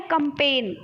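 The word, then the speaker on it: campaign: है फिर क्या है कंपन ठीक है कंपन में क्या होता है कैंपेन सॉरी कैंपेन में होता है जी साइलेंट ठीक है चैंपियन चैंपियन में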